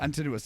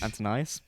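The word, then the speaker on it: Antinous: Antinuous. Yeah. I'd rather live for only learn how to say his name rec. I've been saying Antonyus. It's antinuous again.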